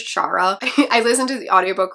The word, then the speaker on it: Shara: wheeler by casey mcquisten i am so sorry for calling it sarah wheeler for so long it is chara i listened to the